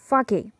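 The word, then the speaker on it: sake: Suddenly टैरोस father said, I wish I हैड ए कप ऑफ फाके, it would warm me एंड डू माई old heart good. S ए को Japanese में फा ऐसे pronounce करते हैं और के ई को के ऐसे प्रोनाउंस करते हैं।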